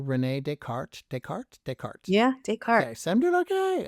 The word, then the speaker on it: Descartes: Yeah, Descartes.